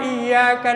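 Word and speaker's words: إِيَّاكَ: Kan ada juga iyyaka na'budu wa iyyaka nasta'in. Ada yang ketarik ada tas, tapi kurang. Mestinya ini di sini bacanya harus 2 ketukan. Iya, karena ya-nya karena ada tas.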